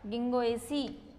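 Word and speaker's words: Ginkgo: ध्यान रखना कि जो नीटम है उसमें जी साइलेंट होता है और जो गिंगो है उसमें के साइलेंट होता है। जिन कैगो नहीं बोलते, इसको गिंगो ही बोलते हैं।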